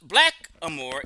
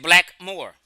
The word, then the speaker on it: blackamoor: the word is saying no one pronounced it blackamore they just said black Moore and sometimes black had